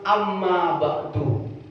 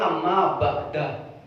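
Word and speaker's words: أما بعد: Makanya ketika ada orang berpidato, Alhamdulillah, kemudian akhirnya amma ba'du, ada yang amma ba'da, gitu. Itu sama-sama benar gitu.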